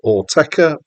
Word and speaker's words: Autechre: I'm using the pronunciation Autechre because apparently that's what they use. But apparently you're allowed to pronounce it however you like. They say it's open to interpretation.